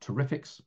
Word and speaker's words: TREFX: Myself and Carol co-led the TREFX, pronounced Terrifics, project.